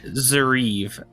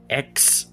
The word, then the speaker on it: Xheriev: The one that you hold, Alfie, is called Xheriv. Xheriv. Spell that one more time.